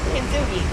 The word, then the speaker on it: Kintsugi: So we're here at, let me make sure I say it right, KINTSUGI? KINTSUGI, yes.